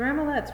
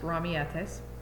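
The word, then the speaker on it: ramilletes: to tia dolores the ramalets remind me of the flowers mama painted planted in our courtyard she said it's probably pronounced mommy get this it is so those are pronounced romietes missile needs to brush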